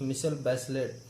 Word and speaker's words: Michelle Bachelet: That girl, Michelle Bachelet, pronounced Michelle Bachelet, was elected president of Chile in January 2006.